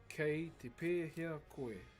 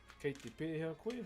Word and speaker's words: Kei te pēhea koe: Kei te pēhea koe. Kei te pēhea koe.